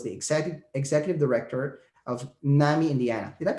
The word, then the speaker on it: NAMI: previously he was the exec executive director of nami indiana did that pronounce that right you got it perfect and